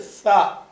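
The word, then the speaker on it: ث: அடுத்தது வந்து நாலாவது எழுத்து சா. சா என்பதும் இதே சாண்டா காத்து வரணும் சொல்லும்போது சா வாயில இருந்து காத்து வர மாதிரி சொல்லணும். இந்த சா என்பது வந்து பா தா ரெண்டு எழுத்து பார்த்தீங்கல அதே வடிவத்துல தான் இருக்கும்.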